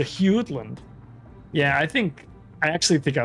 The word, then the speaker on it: Jutland: Yeah, it's a soft J. It's a Hewland.